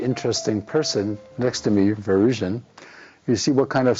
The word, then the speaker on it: Varoujan: call him, because not everybody can say Varoujan.